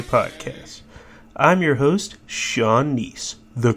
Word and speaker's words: Kneese: i'm your host Sean nice though K is silent now this podcast I